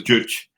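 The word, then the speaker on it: Juche: North Korea right very very do CH not juice a Jewish ditch okay yeah I just I found that out while we were in between break yeah pronunciation is Jewish and so so that's very Jewish right like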